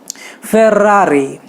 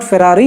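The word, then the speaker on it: Ferrari: सो Italians usually र को ज़्यादा stretch करते हैं, स्ट्रेस देते हैं। फेरारी, इट्स नॉट फेरारी, इट इज़ फेरारी।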